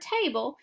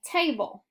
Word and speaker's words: table: have a vowel sound silent e knows this too so in the word table he makes the consonant L have a new sound the new sound is a schwa sound and it comes right before the L so I'm going to